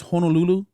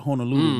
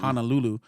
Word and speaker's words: Honolulu: of our language so if I tell you that it's Honolulu you pronounce it Honolulu not Honolulu like your names like